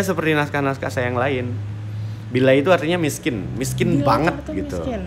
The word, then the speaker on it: Bilai: Bilai, ya, Bilai, gitu.